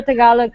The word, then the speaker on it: Tagalog: Tagalog. Okay, yeah, that's how you say it.